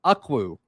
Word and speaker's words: Ukwu: get from the portal Isaac akwu I think that's how you pronounce it his last name is spelled u-k-w-u but he is an